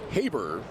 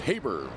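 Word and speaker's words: Haberer: It's actually Jack Habber. Throws you off a little bit because the last name is spelled. H A B E R E R, but it's pronounced Habber.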